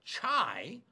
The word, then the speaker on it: Tsai: And I'm sorry about that because it's pronounced chai, and it's chai as in tea as in tea party.